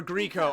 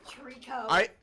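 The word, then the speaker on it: Treecko: Or Greco. I don't remember how to pronounce it. Ow! Why? Would you call him Greco? He said Greco. It's Trico.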